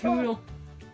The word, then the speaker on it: hoodle: It's hoodle. Hoodle. Hoodle rhymes with poodle.